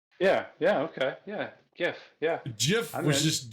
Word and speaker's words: GIF: It's pronounced Jif. Jif. Jif? The peanut butter or GIF as in the picture?